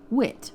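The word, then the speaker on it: wiht: So, um the old English word um for a being or a creature was actually wit, which is spelled w i ht.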